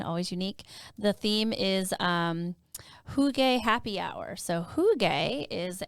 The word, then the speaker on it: Hygge: By the way, that's Hygge. It's huge. I know it. I was like, wait, don't tell me. Don't when you spell it out, it's Hygge.